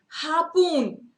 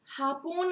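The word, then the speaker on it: harpoon: हापून, हापून is what? Are इज अ bit silent here.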